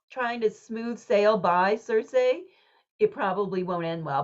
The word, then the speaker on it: Circe: to say your name so I say Cersei um before meline Miller's book came out I always called her K which is like the Greek way to say her name in English but I so I